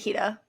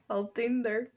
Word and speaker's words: Faltinder: But like when we do it with our American accent, it's like, oh, No, 'Cause that I was know it- fajita. No, it's not. Faltinder.